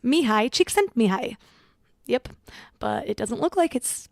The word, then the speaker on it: Csikszentmihalyi: hard to pronounce and the spelling is completely different than the pronunciation it's me hi Csikszentmihalyi yep but it doesn't